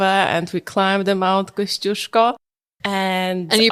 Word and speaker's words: Kościuszko: So whenever family arrives, we take them over and we climb the Mount Kościuszko. And you pronounce it correctly.